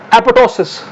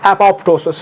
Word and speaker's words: apoptosis: Apoptosis or apoptosis. This word can be pronounced in two ways: apoptosis or apoptosis.